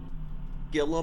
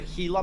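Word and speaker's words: Gila: a hila monster or is it a Gilla monster because I realized I've been pronouncing it Gilla monster my whole life elila monster oh well there you go it's your Spanish pronunciation here you know what I'm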